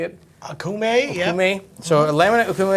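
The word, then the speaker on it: Okoume: Akume, yeah.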